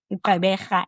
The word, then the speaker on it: Gqeberha: The other one is the Gqeberha, am I saying it right? And of course, East London. Yes, Gqeberha, yes, Port Elizabeth, Yeah.